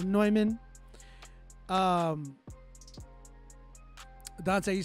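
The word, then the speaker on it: Neumann: noyman noyman by noyman it looks like Newman but it's pronounced noyman um Dante you said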